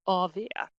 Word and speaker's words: AW: AW, pronounced avia, something Swedes talk about a lot, and that stands for after work, which is essentially drinks after work.